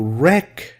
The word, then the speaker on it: wreck: drive it when you wreck the car W is silent when you wreck it